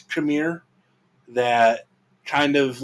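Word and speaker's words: Qimir: She does, and she's got is it pronounced Khmer with her?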